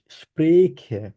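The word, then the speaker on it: spreche: খেয়াল রাখতে হবে আপনাকে আপনাকে বলতে হবে ইস স্প্রেখে খ এর মত উচ্চারণ করবেন ইস স্প্রেখে আবার বলেন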